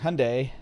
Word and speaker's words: Hyundai: from three hours ago I always pronounce their name wrong Hyundai yeah there you go perfect I always France at high on day because it smelled like that they don't want roads